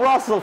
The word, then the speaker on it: Russell: It rhymes with hustle. And it's D'Angelo Russell from three.